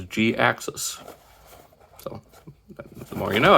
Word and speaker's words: Jhiaxus: basically as a response he came up with g access as in you know like canceling accident cutting it short so yeah that's how the pronounce his name is g-axis so the more you